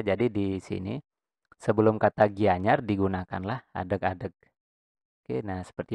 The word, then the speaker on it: Gianyar: Nah, ini kan dibacanya itu Gianyar, Gianyar, tidak Gianyar, apalagi Gihanyar ya, dibacanya Gianyar. Nah, di dalam aksara Bali itu ada yang namanya istilah pengangge arde suara.